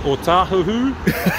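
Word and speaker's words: Ōtāhuhu: O tahuhu. You know? I've been working out Howard too long. Oh, people, but yeah, pronounce it right.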